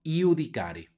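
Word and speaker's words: iudicare: Vamos adelante y aquí tenemos una jota subrayada porque suena como y no se dice adjudicar es sino yudicare Vamos adelante tenemos dos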